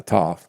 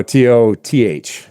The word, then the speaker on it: toth: know Johnny come lately how is it pronounced to yeah toth you know so t a lf no t o t h toth oh toth yeah so